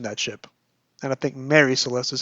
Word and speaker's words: Mary Celeste: Terence also works in a Marie Celeste reference. One day, I want to add a running tally of all Doctor Who novelizations that mention that ship. And I think Mary Celeste is how some people pronounce it, those who